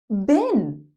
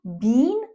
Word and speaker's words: been: Been. First, let's look at the pronunciation. Been. You could use a long e sound. Bean. But when you're speaking, just say been.